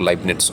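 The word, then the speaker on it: Leibniz: थी और लाइट्स जो जर्मनी के लिनेट्स भी कुछ बोलते हैं कुछ लोग लाइब निट्स उनके नाम का उच्चारण करते हैं लाइट्स की भी एक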